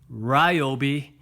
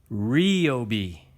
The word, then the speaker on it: Ryobi: in their drill that out and it's not pronounced Ryobi it's Rio be Rio be that's how you pronounce it well